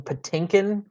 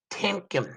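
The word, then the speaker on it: Tiomkin: sounds like you're saying Patinkin and it it's tkin it's t i o m yes it's tkin it's pronounced the the I is like you almost like barely say it that was what I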